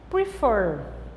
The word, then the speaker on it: prefer: Prefer. Prefer. For é a sílaba mais forte.